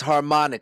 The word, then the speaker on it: harmonic: as i harmonic intervals i keep saying it wrong it's harmonic like harmony the two intervals are